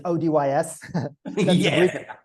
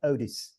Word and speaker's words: ODYS: One of it is the original Craig Campbell way, which is ODYS. That's the British way. And then I call it the more international form is like Odis.